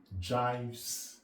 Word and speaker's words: gives: The word G-I-V-E-S in English language is pronounced gives. In mathematics language, we pronounce it jives.